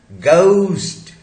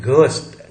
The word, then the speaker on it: ghost: Then GHOST, गोस्ट, नॉट घोस्ट, घ होता ही नहीं इंग्लिश में.